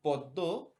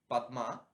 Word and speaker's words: পদ্ম: বলে থাকি জন্ম যেমন পদ্ম এই যে পদ্ম এটি হিন্দি ভাষায় আপনারা আসলে থাকবে যে পাদ্মা এভাবে বলা হয় ইংলিশেও বলা হয় পামা কিন্তু বাংলায় এটির উচ্চারণ হয়ে যায় পদ্ম অর্থাৎ ত পরস্পর সমান